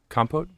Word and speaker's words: compote: Andy made a rhubarb comped is how you say it compote strawberry rhubarb compote it's not compote e compote so it's compost without the s exactly and then you add an e at the end okay but yeah so